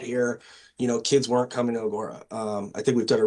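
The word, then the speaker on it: Agoura: I've said since the first week that this is one of the best Agura teams, did I say it right? Agora teams of the level.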